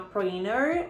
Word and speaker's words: printer: Que é uma printer ou printer. Americanos pronunciam como printer, eles não pronunciam a letra T.